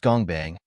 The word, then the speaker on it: Gongbang: The Workshop, pronounced Gongbang, literally meaning workshop, also referred as the Creation Room, the Blacksmiths, the Factory, or Gongbang, is an organization founded within the tower by the great Father Maxeth.